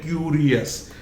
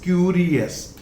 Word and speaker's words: curious: यहाँ भी अधिकांश लोग इसे बोलते हैं क्यूरियस, यानी उनका जो प्रोनाउंसिएशन होता है वो होता है क्यूरियस. इट इज नॉट ये, दिस इज ए, ये this is absolutely wrong. It इज क्यूरियस.